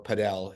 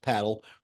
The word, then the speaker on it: padel: Surge and paddle or padel as some people like to pronounce it based on its spelling but uh it is pronounced paddle from what he told